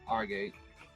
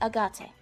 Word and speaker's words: agate: So I need $1,000 of Argate, which is a rock apparently. Yeah, it's agate. Agate. Okay, you got it. It's pronounced agate, but it's spelled agate.